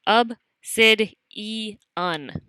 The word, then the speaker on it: obsidian: of igneous rock is obsidian which you pronounce AB CID e on this is a shiny